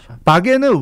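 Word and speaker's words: Wagen: 바겐은 웨이건입니다. 웨건이죠. 자동차입니다. 웨건을 독일식으로 발음해서 바겐인 거예요.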